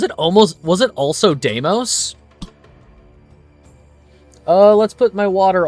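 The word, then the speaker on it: Deimos: Was it almost Was it also Damos? Uh let's put my water all the way over there. That's fine. That's the correct pronunciation. Deamos.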